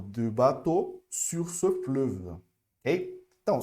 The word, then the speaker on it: bateau: Olha só, esse daqui e esse daqui é a mesma pronúncia, ok? Beaucoup, bateau. É literalmente o.